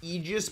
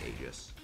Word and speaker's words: Aegis: It's pronounced Aegis, but it starts with an A, so I'm not gonna be one of those people that's like, oh no, it's A.